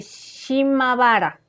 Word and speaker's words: Shimabara: Este incidente fue el detonante para lo que vendría siendo la rebelión de Shimabara, ahora sí lo pronuncié bien, que se prolongó desde el 17